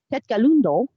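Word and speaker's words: Tkaronto: So the last year or so, they have been respectfully acknowledging the Indigenous heritage of Tetkalundo, that's Toronto, original pronunciation, before each premiere.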